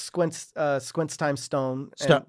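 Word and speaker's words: STOWN: Yeah, so it's Squints Squints times Stone. Stone. Wait, that's Stone how you say it, Stone? Stone, yeah. Okay. But it's spelled S-T-O-W-N.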